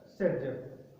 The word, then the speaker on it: Saytzeff: ये रहा इसका हिंदी वर्जन, सेटजेफ, से, आधा, तय, ते और फै, सेटजेफ। क्लियर? तो अपने पास ये सेटजेफ रूल के अकॉर्डिंग अपन